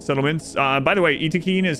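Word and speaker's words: Yttakin: EAC iin iin settlements uh by the way Eakin is how the developers pronounce it some people are like why do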